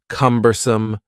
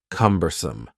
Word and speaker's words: cumbersome: The word cumbersome has 3 syllables, and the stress is on the first syllable, cumbersome, cumbersome.